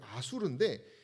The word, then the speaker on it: 아수르: 여성에 대한 잔인한 대우가 있었고 예.이 이 아시리아의 발음은 이제 아수르인데 이거는 신의 이름입니다.